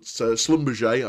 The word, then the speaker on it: Schlumberger: Now, the second method, I did say there was two methods in there, and we have the Schlumberger, or sometimes Schlumberger, but Schlumberger, I believe, is the correct pronunciation, method.